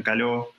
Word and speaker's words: Caló: Pero bueno, también se puede dejar un contacto, me pueden encontrar en Facebook personal, Caló, con acento en la A y en la O, de Caló, C-A-L-O.